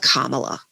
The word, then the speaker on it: Kamala: I dyed it with a dye material called Kamala. Oh. It's spelled exactly the same way.